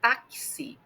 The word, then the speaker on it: táxi: A palavra táxi na pronúncia dela tem aí o X, tem o som de ks, né, táxi.